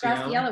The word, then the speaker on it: Graciela: I don't know how to pronounce it. I think Graciela. It's Graciela. What a beautiful name, too.